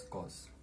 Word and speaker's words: cos: written as cos in short and it's pronounced pronounced as cos so cos theta is defined to be the